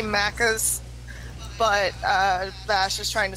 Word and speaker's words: Macca's: Yeah, you want some Mackies? Just somebody's gonna randomly, hey, you cunt, it's Macca's.